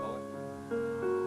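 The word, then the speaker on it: Moët: Moet is a Dutch name, and with proper names, the rules do not apply, so it is properly pronounced Moet.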